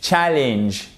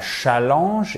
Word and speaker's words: challenge: Challenge, challenge. pas vous voyez, c'est pas challenge, évidemment, c'est challenge, okay?